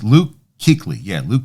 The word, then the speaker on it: Kuechly: know I I I apologize yeah it's Luke hickley yeah Luke Kuechly he was working with him the Lions took